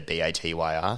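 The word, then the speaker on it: Batyr: with batia yeah so they're ba tyr sometimes people pronounce it wrong and they're a mental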